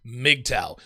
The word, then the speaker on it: MGTOW: they done their research they would know that it's pronounced mgtow that's not really a